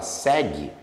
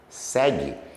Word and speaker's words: segue: Quando você fala segue, segue, esse GU é um dígrafo, porque o U não é pronunciado.